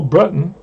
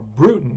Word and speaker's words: Bruton: one all right uh bill bruton or bruton excuse me trying to say his name right i put that those